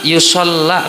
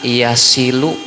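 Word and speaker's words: يصل: Wa rubbama yusalla kata deh. Bacanya atau yusalli? Yusalla. Padahal bacanya apa? Wa rubbama yasilu wasala yasilu.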